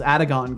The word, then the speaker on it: Adagon: First one, 3 syllables. Adagon.